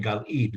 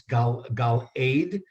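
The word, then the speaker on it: Galeed: I know David was pronouncing Gal Eid, but it's Gal Aid.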